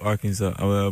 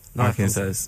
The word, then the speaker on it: Arkansas: C'est Pine Bluff, Arkansas. Pine Bluff, Arkansas. Arkansas. D'accord. Et on prononce pas le S à la fin, c'est ça en anglais normalement.